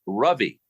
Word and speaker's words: Ravi: I learned that he spells his name Ravi, Yeah. but he's actually Indian. His parents are immigrants. And he said it's pronounced Ravi.